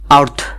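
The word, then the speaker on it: earth: একইভাবে আর্থ, ই এ আ আরতে র আর টি এইচতে থ, আর্থ, যার বাংলা অর্থ হচ্ছে পৃথিবী।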